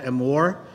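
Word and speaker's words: אמור: The Torah portion for this particular week is called Amor. It sounds like the word love in Spanish and Italian, but it deals with a chapter.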